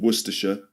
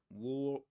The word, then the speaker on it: Worcestershire: A source that comes from a place in England called Worersha. Um, wor sauce. So, worersh remember only three syllables.